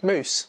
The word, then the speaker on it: Mous: I believe is called mousse MOUs mousse I'd say mousse and our mouse has